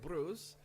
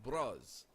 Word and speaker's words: Bruce: Europeans plus Americans say it like Bruce. English pronounce it like Bros. I'm cool with either.